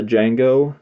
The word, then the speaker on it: Django: cover art for the Jango sleeve for the reversible cover um the D is silent a legend is born